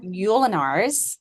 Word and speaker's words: Ulanar: Ulanar.